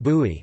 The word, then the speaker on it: buy: Popular fresh juices are made from bisap, ginger, bai pronounced bui, which is the fruit of the baobab tree,